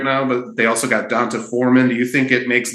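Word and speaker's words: D'Onta Foreman: Yeah, it's Donta Foreman.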